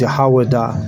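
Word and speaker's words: יהודה: And the way you say it is Yahawada.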